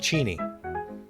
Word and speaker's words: Cheney: It's actually pronounced Cheni.